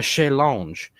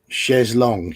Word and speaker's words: chaise longue: decorated with comfortable armchairs, a chaise lounge. Long? Chaise longue, usually. Chaise longue. Okay, that's how you say it.